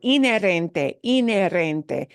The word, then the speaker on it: inherente: Tenemos inherent, pero inherente. Necesita la H, it needs the H to be spelled, pero no se pronuncia la H.